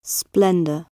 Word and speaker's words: splendour: Remove the S from splendor. Splendor. And we're left with blender.